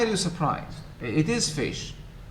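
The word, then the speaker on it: ghoti: one of them unfortunately how would you pronounce this shahi g-h-o-t-i um yes perhaps i don't know roti this is fish fish yeah it's pronounced as fish don't look at me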